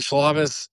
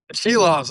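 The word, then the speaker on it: Silovs: And with him we also have I I don't know if I'll pronounce his name right. Shavez. Uh she loves Sheilovs. Oh my goodness. Yeah, I knew that. But I always am like that's how it's pronounced really.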